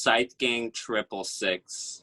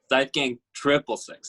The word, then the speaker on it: Scythe Gang 666: head out it's pronounced scythe gang triple six and we've green death trap sight gang triple six not six six six triple six yeah also